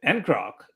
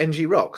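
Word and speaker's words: ngrok: a minute there um because I always pronounce it and Croc uh so I did too but um the folks I work with call it NG Rock so I just assumed I got it wrong it makes sense to be NG Rock because you have rock at the end right um cool yeah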